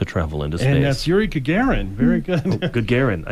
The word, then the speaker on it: Gagarin: aboard the spacecraft lost dog one Soviet Cosmonaut Yuri garrigan becomes the first human being to travel into space that's Yuri Gagarin very good good Garen I can't pronounce things